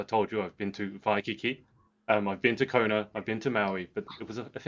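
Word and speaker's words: Waikīkī: it is hawaii because in the hawaiian alphabet w's are pronounced in the v sound and so vi for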